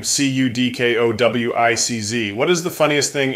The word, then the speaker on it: Cudkowicz: The wonderful way is with a hard C, Cudkowicz. And Cudkowicz is the not so nice way.